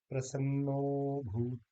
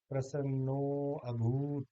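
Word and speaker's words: प्रसन्नोऽभूत: या ये है प्रसन्नो भूत, ना कि हम कहेंगे प्रसन्नो अभूत, नहीं कहेंगे।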